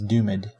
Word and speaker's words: Doomed: I feel like it's different every time I say it, but that's okay. The correct pronunciation is Doomed.